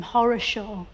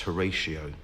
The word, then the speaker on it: Horatio: Lord Nelson all about why did his parents call him horos Shaw I think they probably intended it to be pronounced Horatio but it just got Mish